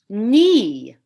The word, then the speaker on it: knee: And then think of the word knee, K-N-E-E. We don't pronounce that initial K, just like in the word knight, a knight in shining armor.